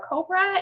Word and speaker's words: COBWRA: is it spelled so it's spelled cobra like the snake and it's spelled c-o-b